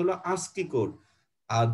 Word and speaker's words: ASCII: এভাবে উচ্চারণটা দেখো, ASCII, এটার উচ্চারণ বাংলা এভাবে বলতে হয় ASCII কোড। এটা উচ্চারণটা অনেকে হয়তো প্রথমবার বুঝবা না যে এটা কি লিখছি, উচ্চারণটা কি। উচ্চারণটা হলো ASCII কোড।